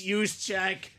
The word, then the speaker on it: Juszczyk: It's Juszczyk.